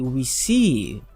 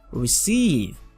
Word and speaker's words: receive: EI within words okay don't forget how I pronounce it I say e okay for example we have r e c e i v e this is EI I EI I I say receive receive e receive okay do you receive it